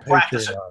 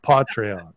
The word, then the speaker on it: Patreon: The folks at Patreon pronounce it Patreon, not Patreon.